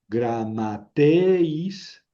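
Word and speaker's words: γραμματεῖς: Gama g ro gr a gra. Vamos bien. Gra. Y luego siguen dos mis gram. Gram gram a. Entonces aquí es grama y luego tau. Gramateis. Gramateis.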